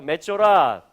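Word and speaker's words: מצורע: 자, 맷조라라고 읽어집니다. 한번 해볼까요? 맷조라, 맷조라.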